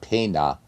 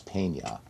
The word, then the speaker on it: peña: So it's just because there's a tilde above the N, which in Spanish is pronounced like a ñ. So it's not pena, it's peña.